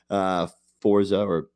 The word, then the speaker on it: Forza: Forza, as Brody says, because that's the proper way to say it, Horizon 4 brought in